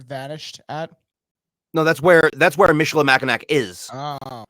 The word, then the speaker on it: Michilimackinac: How do we pronounce this word again? Michilimackinac? Michilimackinac.